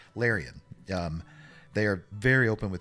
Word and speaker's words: Larian: The great thing about this company, Lauren, is that how you say it? Let's see. It's called, yeah, Larian.